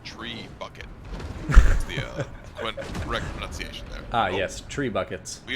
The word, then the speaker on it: trebuchet: say these trebuchet is the correct pronunciation is tree bucket ah yes tree buckets